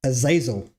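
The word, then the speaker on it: Azazel: Ael is actually pronounced Aazil, right?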